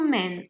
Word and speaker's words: men: Donc attention à la prononciation. A man, two men. Donc, a man, tout simplement, au pluriel devient un man. Donc, il faut enlever le A et le rajouter par un E.